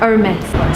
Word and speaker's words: Aramis: band so you don't fancy very much yeah Aramis so the correct way to pronounce it I was wrong yahoo pronounced last